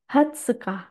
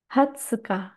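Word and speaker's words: 二十日: Tanggal 20, Hatsuka. Hatsuka. Jadi beda banget ya, tanggal 20 ini adalah cara baca yang khusus.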